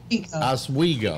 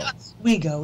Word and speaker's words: Oswego: Ladies and gentlemen, that smiling face you see before you is that of Ronnie Bennett in Lake Oswego, Oregon. Did I pronounce it? Oswego. Oswego.